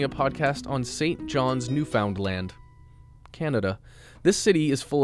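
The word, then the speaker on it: Newfoundland: most people not from here tend to say New Foundland or new fund new fundland for some reason when the correct pronunciation is New Found land thanks Justin and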